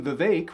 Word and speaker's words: Vivek: moderator's name, or when Vivek rhymes with mistake, Ramaswamy accidentally said, "Thanks for talking while I'm interrupting," which I think is very telling.